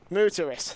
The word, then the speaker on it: Muteris: Is it Muteris? You guys are going to have to give me some feedback here. Moot. Okay. Muteris. Thank you very much.